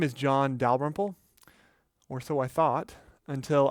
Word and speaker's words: Dalrymple: He claimed that my last name, which is Scottish, is actually pronounced Dalrymple. I guess I shouldn't be surprised because I've heard my name mispronounced all my life. Dal-RYM-ple, Dalyrimple. I've heard it all.